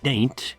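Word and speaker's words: Dante: usually runs something like daint pronounced not like the Italian but instead similar to paint so daint is reached by 10:30 a.m.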